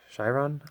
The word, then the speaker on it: Chiron: be opening it up this is the Bugatti Chiron I believe it's pronounced you can pick these up at Sam's